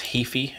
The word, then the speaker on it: Heafy: I think it's Heafy is how you pronounce his last name.